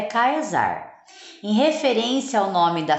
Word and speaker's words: Caesar: Caesar tá vai causar na verdade a pronunciação certa é kaysar em referência ao nome